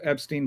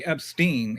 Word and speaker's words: Epstein: But then I heard one of the victims say Epstein. And so I'm like, okay. Rhymes with spleen.